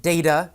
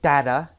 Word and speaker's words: data: Some people pronounce it data. Some people say data. Either is correct.